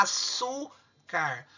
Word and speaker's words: açúcar: Açúcar. O mais forte é o su.